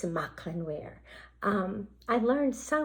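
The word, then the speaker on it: Mauchline: h l i n e where and you pronounce it mcklin look at that another little piece came from my collection isn't that beautiful so it's mcklin wear um I learned so much I had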